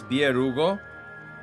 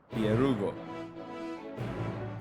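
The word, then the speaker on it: Byregot: It's Bierugo. In ancient version, the T is silent. The T is silent. Bierugo.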